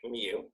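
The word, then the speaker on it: μ: a cute little kitten mew mew mew so it's a lower case greek mu and it looks like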